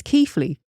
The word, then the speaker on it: Keighley: And he went, it's Keighley. Yeah, Keighley.